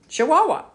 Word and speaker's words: Chihuahua: The largest state in Mexico is Chihuahua, pronounced Chihuahua.